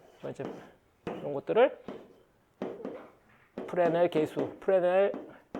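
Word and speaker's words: Fresnel: 이걸 이제 프레넬 계수, 이제 이런 것들을 프레넬 계수, 프레넬 이 S 묵음이에요. 프랑스 사람이라 프레넬 코에피션트.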